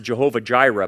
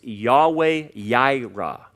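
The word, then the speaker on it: Yahweh Yireh: with a j and there's no j in hebrew so they pronounce it jehovah jireh but that's that's that's wrong uh there's no j in it's uh in hebrew it's yahweh yaira and and we we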